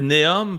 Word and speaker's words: Neom: ça benah en fait c'est c'est néom parce que c'est néo euh pe faut je le chercher je me suis pris une note parce que c'est du l'ancien grec puis de l'arabe mélangé c'est euh néo pour nouveau en ancien grec puis mostakbal je P